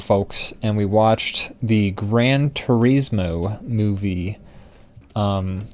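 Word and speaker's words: Gran Turismo: the audience sides with us we were watching Grand Turismo um which is how you say it actually what however else people pronounce it is wrong um but we were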